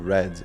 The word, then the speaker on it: read: E o read ele escreve da mesma forma I read no presente. E no passado a gente fala I read. É basicamente a mesma pronúncia da cor vermelho, só que a escrita, a ortografia da palavra se mantém a mesma.